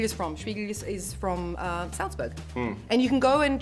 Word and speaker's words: Salzburg: Sound of Music takes place in Salzburg, and in Salzburg or Salzburg, I say it right, so everyone can understand. This is where Stiegl is from. Stiegl is from Salzburg, and you can go